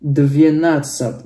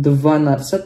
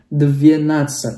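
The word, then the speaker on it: двенадцать: 12 dvienatsat ya. Perhatikan di sini bukan dvanatsat tapi dvienatsat ya.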